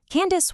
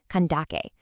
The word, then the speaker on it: Kandake: Candace wasn't actually a personal name at all. Actually, it was just the Greco-Roman mispronunciation of a Meroitic royal title, Kandake.